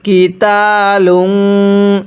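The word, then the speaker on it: قتال: এরপরে কিতালিংফতালু এটা কফ উচ্চারণ করব অনেকে এটাকে কুল শুধু কাফ উচ্চারণ করি এটাকে কিতাু কফটা উচ্চারণের সময় গলার মধ্যে ধাক্কা দিয়ে পড়ব তাহলে কুল কিতাু গুনাহ করব কাবির ওয়াকফ করলে কাবির এরকম ভাবে পড়বো।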